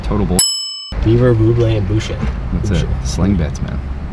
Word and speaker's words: Boucher: Like a voucher with a B.